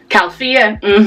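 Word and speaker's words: Califia: I know how to pronounce it. Calfia.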